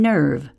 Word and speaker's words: nerve: Instead, that silent E is there because no English word ends in V. It's always followed by a silent E.